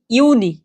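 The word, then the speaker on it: Juni: মাই মাই অর্থ কি মে মাস তারপর যেটা জুন জুলাই এটাই সচরাচর সবাই ভুল করবেন এটা কি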